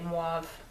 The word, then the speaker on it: mauve: the Color mwave Me Jessica likes the way I say moov I feel like it should be said mauve I like to pronounce the U that's just my thing